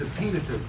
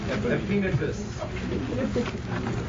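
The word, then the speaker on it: Epaenetus: I think it's a penitist, but let me find out. Let me find my pronunciation mark. You're looking up Romans 16:5 while he's checking it out. It is a penitus.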